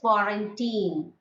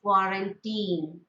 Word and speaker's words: quarantine: i have found that the word quarantine is the pronunciation is foreign team okay as masters of english we should know that it is quarantine but many of them